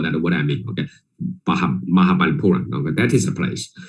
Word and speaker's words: Mahabalipuram: And only after 3 or 4 times of visit, I can maybe still not right, but the pronunciation, at least local people know that what I mean, okay? Mahabalipuram, okay?